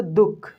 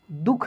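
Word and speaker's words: दुःख: शब्दों में देख लीजिए, जैसे दुख, दुख नहीं दुख, अंततः, अंतस्थ, अंतस्थ, ऐसे पढ़ेंगे, ठीक ना।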